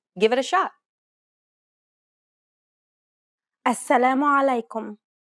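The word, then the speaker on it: السلام عليكم: give it a shot assalamu alaikum did you pronounce this greeting correctly be mindful about the throaty sound this common greeting try again alaikum if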